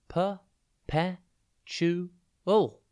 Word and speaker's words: perpetual: Today's word is perpetual. It's pronounced per-pe-chu-ul, and it's spelt P-E-R-P-E-T-U-A-L. Think per, pet, and then ewl.